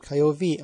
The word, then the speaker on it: Kiowa: Ich habe aber nicht gehört, dass irgendein Stamm gegen den anderen aufgetreten sei.« Das Wort Kiowa wird Kiowe ausgesprochen.